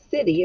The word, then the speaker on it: city: yesterday city city now city is tricky because it sounds like it starts with an s but it really starts